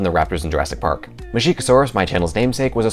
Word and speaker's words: Masiakasaurus: eating dinosaur from Madagascar I've heard a pronounceable from Chico Soares and more phonetically like moussaka source I just think mushy kousouris sounds cooler we do actually know